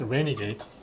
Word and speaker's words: RNGD: is this uh Renegade we pronounce Renegade although we write in rngd oh yeah renade pronounce